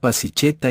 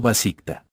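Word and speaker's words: Vasishtha: Las letras che deben ser pronunciadas de un modo dulce, como en char cheval. Así, en la palabra basicta, pronunciar basicheta y no basicta.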